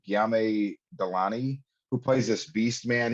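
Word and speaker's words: Guillaume Delaunay: Sofia La Puerta, and I'm gonna mispronounce this because I keep wanting to say it's Giamo, but it's not. It's Giame Delani, who plays this beast man.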